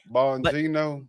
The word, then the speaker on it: Bongino: Bonino. Bonino. It made Dan Bongino leave the CIA.